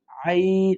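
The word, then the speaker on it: عين: হলুকের মধ্যে কন্ঠনীর মধ্যখান কন্ঠনলির মধ্যখানে লাগাবেন আইন ওই জায়গা থেকে উচ্চারণ হবে আইন আইন তারপর হচ্ছেন হ্যা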